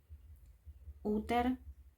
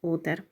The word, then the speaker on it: Uther: Esa película hay una escena donde el papá de Arturo, Uther, creo que se pronuncia con Z porque es TH, Pendragon, tiene un tatuaje o una especie de quemadura en el antebrazo que muestra el dragón.